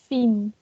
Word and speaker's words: Fien: here we are with some questions to make to how can I pronounce your name? Fien.